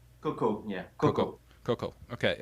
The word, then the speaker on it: Cokau: Cokau? Cokau, yeah.